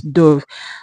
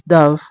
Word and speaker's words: dove: But I think the more popular pronunciation of that word is dove. Now the right pronunciation is dove. The O is pronounced A.